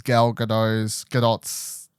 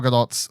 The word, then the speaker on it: Gadot: This is Gadot's. I found out recently. It's actually, I'll say that the T apparently. I've been saying it wrong for years. Gal Gadot's first film role as well is this movie.